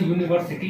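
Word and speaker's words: university: ठीक है, उसी तरह से यूनिवर्सिटी है, इसका भी हम लोग ये करेंगे अगर प्रोनाउंसिएशन तो यू होगा, जो कि क्या है कॉन्सोनेंट साउंड है, तो इसलिए इसके पहले आर्टिकल ए का इस्तेमाल होगा।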